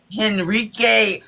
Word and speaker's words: Henrique: Henrique. Henrique.